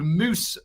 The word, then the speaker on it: Mous: It's called Moose Backpacks, and it's spelled MOUS Backpacks.